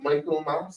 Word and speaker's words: Michaelmas: You have a situation with late notifications of the transfer of principals and teachers for the 2024 Michaelmas, that's the correct pronunciation term.